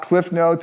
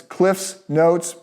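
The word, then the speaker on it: CliffsNotes: The Cliff's Notes version of this, and I'll say the Cliff Notes. It's actually not Cliff Notes, it's Cliff's Notes, but nobody knows that, so I sound like an idiot.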